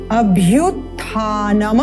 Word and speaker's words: अभ्युत्थानम: द्वितीय पंक्ति अभ्युत्थानम अभ्युत्थानम यहां पर जो म है इसको हम हलंत युक्त म की तरह उच्चारण करते हैं जो कि गलत है तो यहां हमने देखना ध्यान क्या देना है इसका उच्चारण करना है नम अ स्वर युक्त करते हुए अभ्युत्थानम धर्मस्य अगर हम इसको